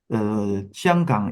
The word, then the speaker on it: Xianggang: Yes, Hong Kong is Cantonese pronunciation. Xianggang is Mandarin pronunciation.